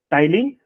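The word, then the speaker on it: ptyalin: enzyme होचे टाइलिन okay you can write टाइलिन और salivary alpha amylase P टाको silent रखनी से टाइलिन कहूची मु ठीक अछि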